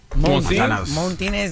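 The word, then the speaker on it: Montanez: No, it ain't ain't no R in it. It's spelled M O N T A N E Z Montinez.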